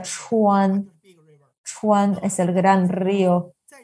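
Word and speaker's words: 川: Que nos ayuda a riegar la tierra y ahí se pronuncia Chuan, Sichuan es el gran río.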